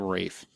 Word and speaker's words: Ralph: Ralph Fiennes he's the. Rafe. Thank you. It's Ralph. It's spelled Ralph. I don't understand why he can't pronounce it correctly.